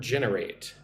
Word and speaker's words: generate: Let's look at the word generate. Generate. Generate. Put the emphasis on the first syllable.